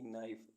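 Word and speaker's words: knife: घंटा ऐसे वर्ड्स जिनमें अल्फाबेट के साइलेंट रहता है के एन ओ T note note means गांठ के एन ओ सी के नोक नोक मींस घट घटाना के एन आई एफ ई नाइफ नाइफ मीस चाकू के एन ओ डब्लू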